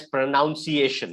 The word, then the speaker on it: pronunciation: So the word pronunciation, 5 syllables. Pronunciation. When you pronounce it, it becomes like this. Pronunciation. That's how we pronounce it. Okay. So remember this. I'll type the pronunciation for you. Okay. The syllables for you. Rather, this is how we pronounce it. It's P-R-U-H, nun, N-U-N, nun, C-A-shin, shin, S-H-U-N.